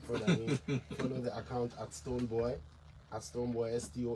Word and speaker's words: Stonebwoy: From the beginning, if you say boy, I'm like, yeah, it still means boy. It's boy, Stonebwoy, so that you get a pronunciation right.